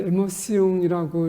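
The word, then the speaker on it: émotion: 이게 이제 에모시옹이라고 이렇게 발음을 하는데 에모시오나 이게 좀 흥분된다.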